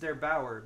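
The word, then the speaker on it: der8auer: yesterday by I believe his name is pronounced there Bauer but I'm totally I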